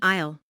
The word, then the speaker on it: isle: I'll notice the silent s in isle.